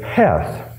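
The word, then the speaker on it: חֵית: the 8th file or the AP bru word is Hef and it's a chi th or it could be CH e th and this particular word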